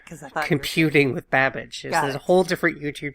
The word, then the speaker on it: Babbage: Right, because I thought computing with Babbage. There's a whole different YouTube channel back in the day. Rhymes with on cabbage.